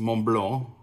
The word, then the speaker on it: Montblanc: It's spelled MontBlanc, but it's supposed to be pronounced MontBlanc, is one word.